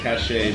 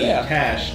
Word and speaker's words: cache: Cash is actually pronounced the same way as cash.